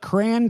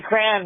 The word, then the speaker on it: crayon: Let's do uh uh cray cray cray. It's Tony Mayo and his wife from Ann Arbor and we say cran because we're from Michigan.